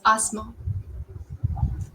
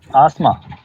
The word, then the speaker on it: asthma: this one Asma Asma it's not asthma it's Asma Asma yes okay poem po poem it's not poem